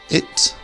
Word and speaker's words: it: have it and eat now if you say these two words and they sound the same then that is wrong so the first one it is not an e sound this I is an earth like a fourth tone in Chinese but it where as the word eat is an elongated e eat so practice saying this